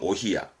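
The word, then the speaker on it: お冷: 히야미즈 히야미즈 하기도 하고요 오히아를 많이 쓰죠 냉수는 오히야 그러다가 주위권은 땀이지요 발음은 아세 발음은 히야셋은 식은땀 식은땀 씨앗에 보통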